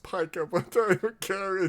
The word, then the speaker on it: pica: I know it's pronounced pica, but I don't care.